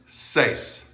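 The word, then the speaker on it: seis: all single all right next numbers says says one syllable says all right the e i is just like the e i in english words like way and nay and stuff like that okay all right though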